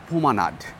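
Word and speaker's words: promenade: ই এন এ D America রা বলে হোমেনাড পিয়ারও আচ্ছা আর ফরাসিরা বলে পোমানার্ড ফরাসি উপনিবেশ ছিল সুতরাং উচ্চারণ ফরাসিদের মত হওয়া উচিত হ্যাঁ যদিও আমরা উচ্চারণের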